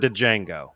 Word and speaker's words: Django: I have 7 for Django. Okay, so the D is silent.